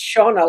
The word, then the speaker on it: Shona: Yeah, so what Donna there is being pronounced, it is Shona like Donna, but instead of Yeah.